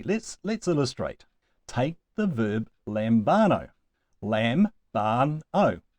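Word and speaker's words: λαμβάνω: So it must go on the second to last syllable, lambano.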